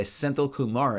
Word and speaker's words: Senthil Kumar: By Senthil Kumar, I believe is how you say that.